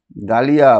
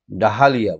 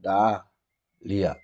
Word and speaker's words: Dahlia: ডালিয়া বানানটা দেখো, DAHLIA ডালিয়া, ডাহালিয়া বলে মনে হচ্ছে না, ডালিয়া, ডা, DAH, ডা, LIA।